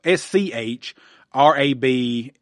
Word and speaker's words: Schrab: of the name Rob Schrab and that's how I pronounce it. S H uh S C H R A B And that's how I pronounce it, Schrab.